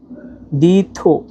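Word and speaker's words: 地图: দুই number tone উচ্চারণ নিয়ম হচ্ছে নিচ থেকে উপরে আর চার নাম্বার টন উচ্চারণ নিয়ম হচ্ছে উপর থেকে নিচে। তাহলে দেখেন দি দেখেন কিভাবে টান দিলে উপর দিকে চলে যায়। দিথ থু একবার নিচের দিকে পড়বে।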